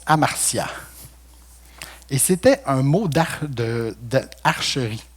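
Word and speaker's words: ἁμαρτία: » Le mot péché en hébreu se prononce amartia.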